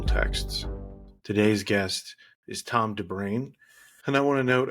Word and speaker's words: de Bruin: And this is why I asked the guests before we start the interview how to pronounce their name. So it is Tom Derain in spite of how it might look to American English speakers.